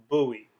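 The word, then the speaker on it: בּוּי: In both cases, it is the sound ooey, as in the English word gluey. Both of the Hebrew syllables above would be pronounced buoy, buoy.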